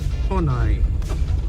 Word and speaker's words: Khawhnai: we are reaching the village Kai how you pronounce Kai Kai so we are reaching the village Kai and